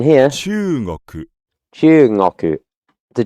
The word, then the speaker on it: 中国: Even though in pronunciation here, 中国 Chugoku, the G becomes soft, or the before the